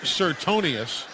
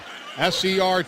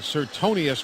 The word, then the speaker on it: Sertonus: His name is spelled Sertonus, is the way it's spelled, but it's pronounced Sertonius. S-E-R-T-O-N-U-S-E. Sertonus is the way it looks. But Sertonius made the stop.